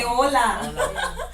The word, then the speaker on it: hola: yeah but we say hola and hello we know that's hello I'm not gonna write them here cus we have in the air yeah okay so the H is silent and we say hola right hola let's go